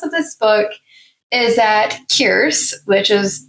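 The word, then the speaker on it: Kierse: And the premise of this book is that Kierce, which is spelled K I E R S E, and is pronounced like Pierce but with a K.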